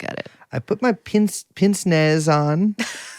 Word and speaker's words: pince-nez: I put my pince-nez on.